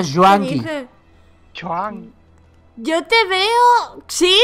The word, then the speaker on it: Juanki: No es Chuan, se pronuncia Juanqui.